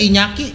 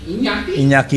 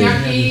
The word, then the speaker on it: Iñaki: Bukan Inaki, bacanya Inyaki. Iñaki Godoy. Inaki.